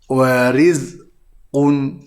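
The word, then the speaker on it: ورزق: Dan cara bacaannya hendaklah dibaca dengan tarqiq, iaitu dengan ada senyuman. Warizqun.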